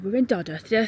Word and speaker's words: Dodworth: And you'll notice it's it's spelled Doddworth, but the local pronunciation is Dodith. They don't pronounce a W.